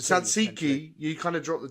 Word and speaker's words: Tzatziki: But Simas or Zimas, you say like Tzatziki. Ah, okay. So you drop the T. Tzatziki, you kind of drop the T a little bit.